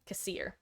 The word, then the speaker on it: Kassir: Is it a hard E like in seer, or a soft like in like a sir sound? Like seer or sir? Kassir or Kassir? I just want to make sure. I'm big on making sure we pronounce names correctly. I grilled Dave as well when he first showed up on how to pronounce Vigduous. Seer. Got it.